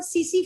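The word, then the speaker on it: tsetse: इसके दो होस्ट होते हैं, ये एक्चुअली एक पैरासाइट है, ये इंसानों में भी रहती है, और सीसी फ्लाई, ये टीएससी मैंने लिखा है यहाँ पर, टी साइलेंट है, सीसी फ्लाई है, ये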